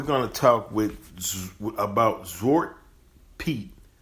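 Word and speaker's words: Zwarte Piet: to talk with about zort Pete z w a r t n p i t which uh is the same as Black Pete that's how you pronounce it in Dutch right now I'm going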